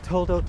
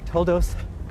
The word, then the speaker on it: Toldot: Parshas Toldot, or Toldos, as you might pronounce it.